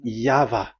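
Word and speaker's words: Yahweh: explanation but that is the phonms the pronunciation pronunciation is equal V. It is V. Y H VH. So it is Yava.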